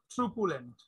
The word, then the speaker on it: truculent: Okay, and our last word is truculent. So truculent or truculent তুমি দেখতে পারো, এটা ব্রিটিশ প্রোনাউন্সিয়েশন বা আমেরিকান প্রোনাউন্সিয়েশন দুই রকম হয় এটা।